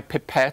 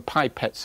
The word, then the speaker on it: pipette: I managed to break my pipette - although : you call them pipettes over here I think - my pipette in the A Level, [Dr.